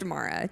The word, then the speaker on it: Amira: her name is pronounced Amara, just in case that's okay to tell you.